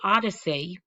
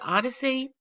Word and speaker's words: OHDSI: Then I want to bring your attention to the Odyssey, OHDSI, we just pronounce that Odyssey, OMOP data model, and